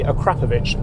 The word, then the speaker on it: Carfection: It's by Carfection, yes, that is how you pronounce it, and adds a load more character from this W12 engine.